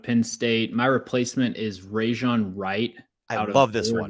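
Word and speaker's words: Rejzohn: Rajon Wright.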